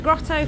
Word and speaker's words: grotto: That's what you need a grotto for. Insane pools, and you need a grotto. Grotto. Don't pronounce the T's.